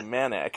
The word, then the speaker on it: Manak: in a printed form we'll say manic you did it right all right thank you